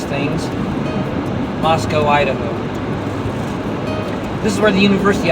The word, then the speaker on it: Moscow: so we're closing on Moscow, Idaho. That's Mos O with an O and not a cow. Cow is in Russia. O is in Idaho. Moscow, Idaho.